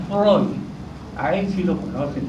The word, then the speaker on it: Freud: Y Freud se pronuncia Freud.